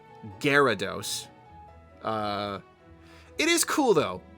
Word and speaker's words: Gyarados: Um, Gyarados, Guarados. I never understood why they pronounced it Gyarados.